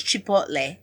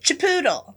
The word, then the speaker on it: Chipotle: She's trying to get him to pronounce Chipotle. Chipotle. Chip Chipop. Chipotle. Chipoodle.